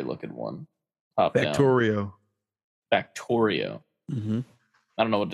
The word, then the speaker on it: Factorio: Factorio. Mm-hmm. I don't know what it is. It rhymes with Mario.